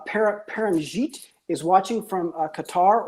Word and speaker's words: Qatar: paranjeet is watching from qatar or or cutter i believe as he might pronounce it carolyn points out that